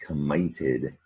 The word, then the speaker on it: committed: That's how we're going to keep that short I sound in the middle of committed, by doubling the t.